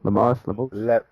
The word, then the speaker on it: Lemos: Lemos. Lemos. But I also missed that fight. But I heard it was pretty entertaining, so I got to go back and catch that one. Yeah, Lemos looked good for like the first 5 minutes